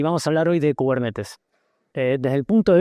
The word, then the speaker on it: Kubernetes: Entonces, cubernetes, primer cosa, se pronuncia cubernetes, no cubernites porque es una palabra, no sé qué.